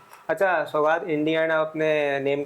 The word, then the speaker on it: सौगात: अच्छा सौगात, इंडियन अपने नेम का मतलब भी बता दें, क्या मतलब है?